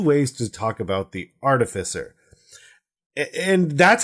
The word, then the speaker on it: artificer: like the root of the word is like artifice so it's artificer right so why would